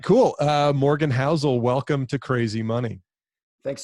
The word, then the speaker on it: Housel: looking forward to this howel is that how you pronounced your last name that's correct okay uh well then